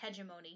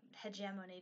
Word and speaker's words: hegemony: like Kingdom like I'm not saying there's not hegemony here or hegemony depending on how you say it but like